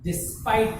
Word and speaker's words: despite: Generally, E at the last we don't pronounce it. That's why we pronounce it ter.